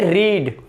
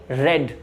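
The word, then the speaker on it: read: जैसे ये होता है पढ़ना, यहां पर हो जाएगा पढ़ा, मैंने पढ़ा, तो मैं इसे बोलूंगा आई रेड। आई रीड नहीं बोलूंगा।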